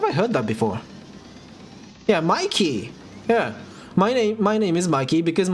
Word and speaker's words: Mikey: I'll be offended if you don't pronounce my name Mikey. Okay? But my name is spelled in a way that is like properly pronounced in Japanese. So Maiki, right? And a lot of people have called me Maiki, which is like somewhat correct, yeah. Meiki. And I get low-key offended by that, but I don't say a thing.